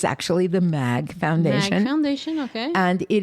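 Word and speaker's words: Maeght: heart and that's called the mag foundation mag but it's spelled m a e g h t it's a dutch word m a e e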